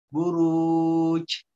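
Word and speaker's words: بروج: Langsung tempelin. Buruj. Pantulin suaranya ya. Buruj. Tidak buruj. Tidak sempurna. Biasanya ya keluar huruf H-nya itu karena makhrajnya ya tidak diucapkan dengan sempurna.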